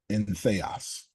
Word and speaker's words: entheos: It's pronounced in theos and is derived from the Greek words in, meaning in, and theos, meaning God.